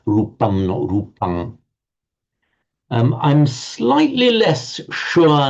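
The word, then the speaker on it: rūpaṃ: Um I have tended to the view and you will hear this in some of the in most of the earlier videos I've done that a final um I will be pronouncing um because I was saying well it's most likely that the Buddha would have been pronouncing this in the same way as Sanskrit and we know that in Sanskrit it would say rupam.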